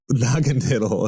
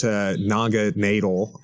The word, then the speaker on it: Naganadel: Naganadel, okay. Because it's supposed to be Naga and then needle, but yeah, Naganadel.